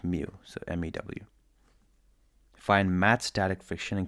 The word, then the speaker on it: mu: By the way, it's pronounced mu. So, mew.